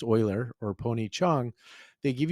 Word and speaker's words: Euler: And then when you learn from like a David Euler or Red Euler, but pronounced Euler, or Pony Chung, they give you language too to help with the prophecy.